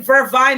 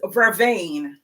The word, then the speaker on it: vervain: We call it vervine in Jamaica, but the correct pronunciation is vervain.